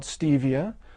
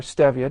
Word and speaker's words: stevia: And meanwhile, there's a perfectly natural alternative sweetener called stevia, or stevia, depending on how you pronounce it, that is derived from the sweetleaf herb native to Central and South America.